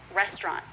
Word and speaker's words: restaurant: rest Bronte is often restaurant two syllables and sometimes you'll hear a CH because of that TR cluster restaurant restaurant try that with me